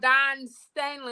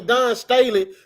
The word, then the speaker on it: Dawn Staley: Dawn, well, you didn't say her name. Her name is Dawn Staley.